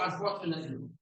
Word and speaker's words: unfortunately: So for some reason, this TU is actually a CHU. So unfortunately.